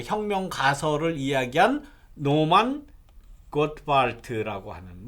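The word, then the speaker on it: Gottwald: 이 주장은 아까 그 가나안 정착할 때에 나중에 그 혁명 가설을 이야기한 노만 고트발트라고 하는 뭐 노만 갓월드라고 이야기하기도 합니다만 이게 독일어 이름이기 때문에 이렇게 독일어 발음으로는 고트발트, 예, 영어로 발음하면 갓월드예요. 이름이 그렇습니다.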